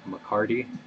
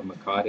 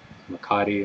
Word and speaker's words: mecate: of people up here they call this a mccarty instead of a makati it's like a scottish sounding name but always